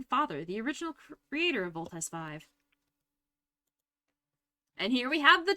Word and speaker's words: Voltes V: Actually, I think they pronounce it Voltes 5, don't they?